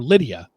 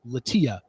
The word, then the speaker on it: Latia: and by the way I was calling her Lydia because we don't know how these women pronounce their name but I had found out it's latia she had 925 followers